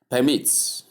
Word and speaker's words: permit: Number four, permits. We have two pronunciations here. The verb aspect is permit. Permit where the stress comes on the second syllable.